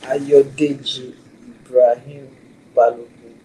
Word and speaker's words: Ayodeji Ibrahim Balogun: How do you pronounce your name? Ayodeji Ibrahim Balogun.